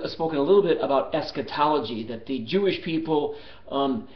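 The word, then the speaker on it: eschatology: I'll spell it. E S C H A T O L O G Y. Esquetology.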